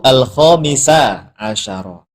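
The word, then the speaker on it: الخامسَ عشرَ: Angka 13 sampai 19 itu mabni alal fathi. Jadi yang benar bacanya al-babu al-khamisa asyara fi bayani i'tiqadi ahli sunnah wal jamaah.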